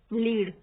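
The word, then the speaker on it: lead: है वो होती है लीड जैसे कि गिव डायरेक्शन ओके और ये लेड होता है देखो स्पेलिंग सेम है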